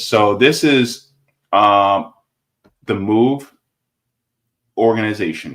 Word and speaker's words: MOVE: this is um The Move Organization right so it says move pronounced like the word move originally a Christian Movement